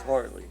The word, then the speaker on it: Hartley: Hadley Whitmer, is that right? No, that's Hartley.